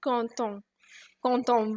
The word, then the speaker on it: quand on: when you have to do a liaison, that means when there is a vowel after this, it gives a slight sound of T when people pronounce it quand on veut, on peut, which means literally when one wants, one can.